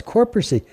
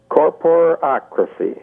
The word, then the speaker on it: Corporacracy: Oh, it's Corporacy. I guess, Jerry, I said that wrong, didn't I? Yes. Okay, give me the right way to say that, and I'll start it all over again. Corporacracy. Oh, corporacracy. I got it.